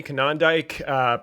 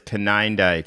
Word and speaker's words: Konyndyk: Yeah, our guest today is Jeremy Konyndyk, president of Refugees International and a longtime humanitarian and emergency operator.